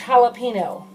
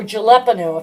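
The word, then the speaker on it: jalapeño: spicy so I added a large jalapeno or jaleppino if you want to pronounce it wrong but if you don't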